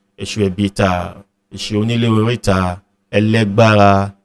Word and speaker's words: Elegba: We have Beleke, Esu Ebita, Esu Onile Orita, Elegbara, Elegba, which, you know, in other societies, the Caribbean societies, Brazilian societies, it's pronounced as Elegwa.